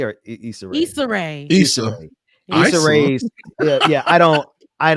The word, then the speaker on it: Issa Rae: the sister i don't want to say her name wrong because i'm about to mess it up is it ice array or issa rae issa yeah i don't i don't follow her